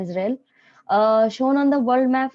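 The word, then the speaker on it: इज़राइल: अब है सब यूनिट इजराइल या इजराइल, इसको सही प्रोनाउंसिएशन है इजराइल।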